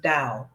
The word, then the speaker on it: Tao: The Tao of sexology it's actually spelled t-a-o but it's pronounced Dao so the Tao of